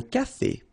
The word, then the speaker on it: café: Un café. Okay, remember accent aigu here. Un café.